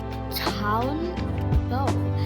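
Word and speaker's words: tanbou: One man asks him the tanbo, pronounced Town-Bo, is a type of barrel drum that has been a popular instrument in Haiti for centuries.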